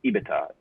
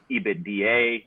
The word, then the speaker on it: EBITDA: or phrases to pronounce ibita i've heard abita ebitda ebitda right so you're the industry the beta we usually call it ebitda i mean you could